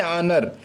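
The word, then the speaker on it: honour: इसके बाद है आनर, यानी हानर लिखते हैं एच ओ एन ओ आर, हानर, लेकिन यहाँ पर एच को साइलेंट कर देते हैं और सीधा हम पढ़ते हैं सिर्फ आनर, आनर मिस होता है सम्मान।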